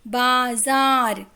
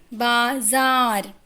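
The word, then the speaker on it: बाज़ार: यहाँ पर ज के नीचे एक पॉइंट है जिसे कहते हैं नुक्ता। नुक्ता लगने पर अक्षर का उच्चारण बदल जाता है। जैसे हम अभी बोल रहे हैं बाजार, ज न कि ज। ठीक है, बाजार।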